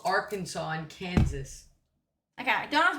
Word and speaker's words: Arkansas: Why is it called Arkansas and Kansas?